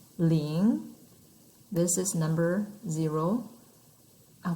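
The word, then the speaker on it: 零: numbers so if you remember number zero we pronounce ling this is number zero i'll put it down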